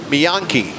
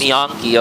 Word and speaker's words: Miyanki: Miyanki is how that is pronounced. Miyanki.